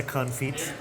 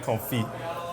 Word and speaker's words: confit: Now, do you know what makes the confit? Firstly, I know you don't pronounce the T. It's duck confit.